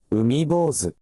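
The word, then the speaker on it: 海坊主: That mark means the beat and a half on the vowel. I thought it did. Okay. Umibose. Hear how the bo is longer than anything else?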